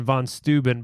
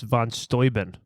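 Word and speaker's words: von Steuben: that's how it's pronounced we've been saying Von stuben but it's Von stoin who told you that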